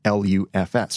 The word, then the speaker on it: LUFS: units relative to full-scale or Lu FS which is pronounced lufs for short in the past it